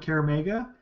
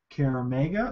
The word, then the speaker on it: Kaer Maga: So yes, she suggests that once you arrive at Kaer Maga, you seek some sort of local aid to